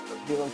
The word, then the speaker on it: Haelan: So Haelan is, how it's spelled, but it's pronounced Haelan 951.